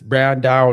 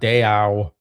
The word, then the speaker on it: Brandão: All right, next up we have Brandao. For the people in the comments keep saying Matt, it's Brandao not Dayao. Stop it.